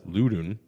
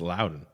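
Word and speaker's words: Loudoun: So I thought it was Ludun or London, but like said funny. But no, it's Loudon. It's Loudon. Like that's they want to get loud and Loudon. So Loudon United, which is the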